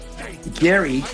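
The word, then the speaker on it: Gerry: correct pronunciation I am Gary spelled with g e r r y should have been spelled g a r y but I wasn't here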